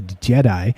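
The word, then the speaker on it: Djedi: and the magicians yep d-j-e-d-i pronounced a jedi uh the first few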